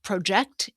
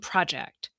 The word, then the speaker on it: project: Same thing with project and project. Stress-timed languages have some predictable rules. For example, in 2-syllable words, nouns and adjectives usually have the first syllable stressed.